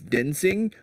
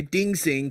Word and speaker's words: Din Sing: As much as I know it's Din Sing, I want to say Ding Sing because he's an idiot. And he likes mispronounce things.